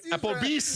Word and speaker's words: Applebee's: Applebee's? Is that the name of it? I think that's what he said. Did I say it? Did I pronounce it correctly? Applebee's?